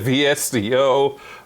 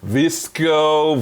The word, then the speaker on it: VSCO: space, that would be Vesco. I say it slowly because I think I've heard it pronounced 4 different ways. I've heard it said VSCO, Visco, Vesco. I've had some of their presets.